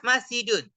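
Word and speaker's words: مَسْجِدٌ: baca aja baitun terus masjidun mimnya di Fathah sinnya di sukun jimnya di kasrh huruf terakhir domomat tanwin masjidun kemudian babun ba pertama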